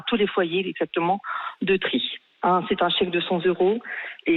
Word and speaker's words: Trith-Saint-Léger: Alors on prononce tri et pas trite, c'est ce que me dit notre ami nordiste Valérie Aubert, journaliste. Pardon. Désolé, J'ai Valérie. fait la sudiste, on dit tri mais Charles, avant de